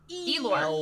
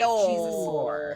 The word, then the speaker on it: Elnor: Elor. I didn't even say it right. Elnor.